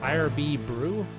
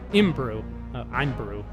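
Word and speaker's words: Irn-Bru: I can't pronounce that. IRB Brew? It's an orange soft drink from Scotland that literally no one knows what it tastes of. Imbrew.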